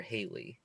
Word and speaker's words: Halle: one with the only exception being um it's pronounced hallier Haley because I want to get confused with I